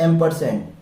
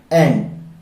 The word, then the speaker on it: ampersand: Pronunciate किया जाता है, इसका जो राइट प्रोनाउंसिएशन है वो है एम्परसेंड, AMPERSAND, एम्परसेंड। एक बहुत कॉमन मिस्टेक जो मैं देखता हूं वो ये कि बहुत सारे स्टूडेंट्स इसको भी क्या साउंड देते हैं, क्या प्रोनाउंसिएशन देते हैं, एंड। सो फ्रेंड, टेक्निकली ये इनकरेक्ट है, इसका जो प्रोनाउंसिएशन है